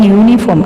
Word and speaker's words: uniform: I saw Rahul wearing uniform. Can we use? Can we use an? No. We should use a uniform because U is pronounced as consonant sound, like that, unicorn.